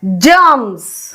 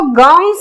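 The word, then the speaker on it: germs: अब हम ये स्पेलिंग पढ़े जैसे जी ई आर एम एस जर्म्स यानी ये हम इसको गर्म्स नहीं पढ़ रहे क्योंकि जी के साथ ई है ऐसे ही जी के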